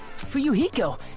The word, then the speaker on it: Fuyuhiko: My first name is pronounced Fu-Yu-Hi-Ko.